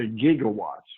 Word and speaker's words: gigawatts: of mine said something gigawatts and I called him and I said in science we prefer to say gigawatts with what you would call in linguistics a hard G and this led to